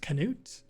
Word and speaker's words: Knut: his name is knut spelled like a nut but it's pronounced Knute but anyway I got